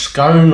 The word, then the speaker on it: scone: cakes these are basically a Welsh scone or Welsh scone depend how you want to pronounce it so for that we're